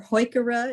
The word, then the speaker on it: Heuchera: Heuchera or Heuchera, if you want to use the German pronunciation, maxima, island alum root.